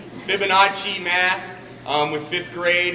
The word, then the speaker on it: Fibonacci: know what it is how do I pronounce Fibonacci I wanted to say fibach Fibonacci math um with fifth